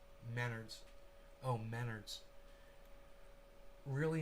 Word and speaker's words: Menards: donald trump and john maynard i work at maynards trump and maynard used to sue each other just google those dudes together and it's pronounced menards oh menards really not important though yeah it's